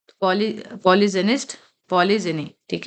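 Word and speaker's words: polygynist: पॉलीगमी मी पॉलीगमस पॉलीग पॉलीगाइनिस्ट sorry पॉलीजनिस्ट नॉट पॉलीगाइनिस्ट पॉलीजनिस्ट यह मैंने word pronounce गलत किया था अ पॉलीजनिस्ट जी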